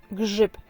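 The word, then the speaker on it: grzyb: Mushroom is grip in Polish. It's a difficult word because it contains a couple of letters that are read as one sound and it's R Z is pronounced.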